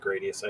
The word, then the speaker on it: Gradius: Yeah, because I mean, we the only thing we've gotten for Gradius, and I pronounce it Gradius. I know other people pronounce it differently, but we've gotten 4 and 5 released on modern consoles, and nothing after that.